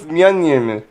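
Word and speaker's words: Mjölnir: No, it's Myeon. Well, So, remember okay. in Dark World when she can't pronounce it, Yeah. she just goes Meow, meow meow, meow meow, meow meow.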